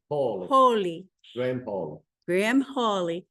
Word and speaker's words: Hawley: Did I pronounce that properly? Close enough. Hawley.